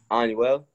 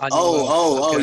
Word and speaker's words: Anuel: Anuel. Oh. Anuel.